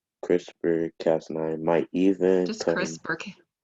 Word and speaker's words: CRISPR-Cas9: See, have to say that or just spell it. Just say CRISPR-Cas9. CRISPR-Cas9 might even Just come.